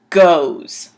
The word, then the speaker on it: goes: So even though it's spelt G-O-E-S, which if you were sounding it out, it would be go-e-s, it's pronounced goes. G-O-Z, goes.